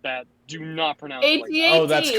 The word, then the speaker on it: AT-AT: Do not pronounce it like that. AT-AT.